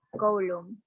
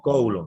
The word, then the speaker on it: Coulomb: Fuerza eléctrica y la ley de Coulomb. ¿Estaba bien pronunciado, profe? Sí, Coulomb, está bien.